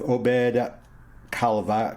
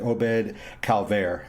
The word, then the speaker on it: Obed Calvaire: by the name of obed calavera come on miss pronounce it obed calvaire as his drummer and